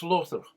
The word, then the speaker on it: Slaughter: a miniature village lora slaughter gets its name from the old english word meaning wetland or muddy place pronounced slother situated away from a